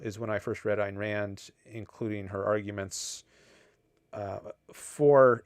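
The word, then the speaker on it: Ayn Rand: Einrand. Einrand. Have I been saying? I think you said a rhymes with mine.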